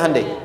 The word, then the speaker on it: Hyundai: bikin Honda sini Handai hyundaikan dibacanya Handai sana Honda apapun yang